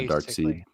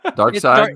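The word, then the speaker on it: Darkseid: seed dark seed dark dark side it's dark side but it's spelled like S I like pronoun dark seed I called him dark seed too until I heard him say dark side one time and I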